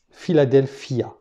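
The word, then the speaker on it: Φιλαδέλφεια: Philadelphia. En fait, on décompose chaque syllabe. Philadelphia.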